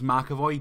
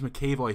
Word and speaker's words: McAvoy: seem to have this really bad luck with pronouncing names correctly i called james mccavoy oh god it's happening again i called james mcavoy james mccavoy for six years before someone finally corrected me